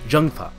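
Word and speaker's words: Zheng Fa: And ZH is not Z, it's Zh in Chinese, so Zhengfa is how it'd be pronounced.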